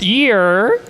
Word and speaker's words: yur: It's pronounced year.